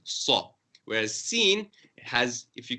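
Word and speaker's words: ص: The Sod is written more with a circular shape, so you make your mouth more rounded. Saw.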